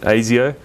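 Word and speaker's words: Asio: for anyone who's been wondering that's how you pronounce it AIO so you can I don't want to hear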